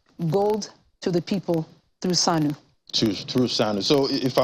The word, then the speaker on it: Sanu: Almost like Sanu in Hausa, but Sanu means gold in Bambara, so in Mali. That's like an S-A-N-U, Sanu.